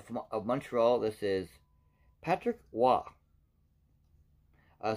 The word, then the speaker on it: Roy: montreal this is patrick wah uh some people might say his name is patrick roy by memories french with patrick wah because he's french there's a back of